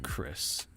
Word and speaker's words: Chrys: my name tag huh so it's pronounced like Chris but you spell it like chrysanthemum it's pretty sick I've